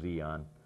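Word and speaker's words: Di An: No, from Tonsonu, I wound up at Zion, which was spelled D-I-A-N, D-D-I, and then capital A-N, as I recall, pronounced Zion.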